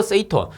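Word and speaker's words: 整頓: 이거 뭐냐면은 일본어예요. 일본어. 일본어로 요렇게 읽는다라는 거예요. 그래서 정리라는 거 일본어로 세이리, 그 다음 정돈이라는 거 세이톤, 그 다음에 청소, 세이소, 청결, 세이케츠, 습관화를 시치케 요렇게 부른답니다. 일본에서는.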